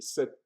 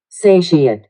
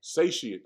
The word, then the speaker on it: satiate: Let me make sure I pronounce it correctly. Satiate. Satiate. I always say sete.